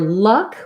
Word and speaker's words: luck: So for luck, we have the schwa vowel. So it looks like this. And what I would say is pair that with another word. So for example, I might try such luck or much luck to be able to match that vowel across both.